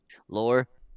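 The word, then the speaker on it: Laure: Laurie? Yeah, Lore, which is Fabian Voss's oldest daughter, correct?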